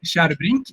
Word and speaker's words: Kärrbrink: And mine is pronounced Kärrbrink, and yours is pronounced Tjärnström.